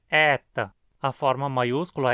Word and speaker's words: eta: O nome dessa letra é adaptado ao latim como eta, e ela é pronunciada E, com um E aberto e longo. Não é E, nem E, nem E. A pronúncia é E, sempre longo e sempre aberto.